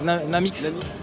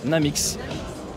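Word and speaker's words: NAMX: donc comment on l'appelle namix namix namix merci Madame merci beaucoup pour la prononciation comme ça se prononce na MX voiture 100% hydrogène alors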